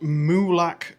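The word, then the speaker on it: Molack: Uh, it's called Muak Shores and obviously it's near Muak Beach. Muak is spelled M O L A C K.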